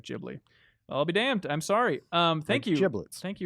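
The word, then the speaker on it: Ghibli: Stephen says PS uh studio gibli is pronounced as soft G sounding like jibli I'll be damned I'm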